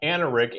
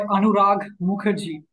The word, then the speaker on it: Anurag Mukherjee: And today I've got Anarik. Anarik, how do you pronounce properly your first and last name? I go by Anurag Mukherjee.